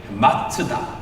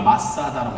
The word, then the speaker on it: 마사다: 이 요새라는 단어가 히브리 말로 발음이 이래요. 마스다. 한국말로 마사다라고 해요. 마사다라고 발음해요.